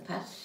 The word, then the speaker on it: pâte: A-T-E ou A-2-T-E, on prononce le E. Les pattes. La pâte.